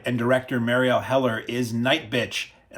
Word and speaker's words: Nightbitch: director Mariel heler is night and I'm putting the emphasis on the first part of that and not the second because then it sounds like you're ending a date in a really horrible way this is a film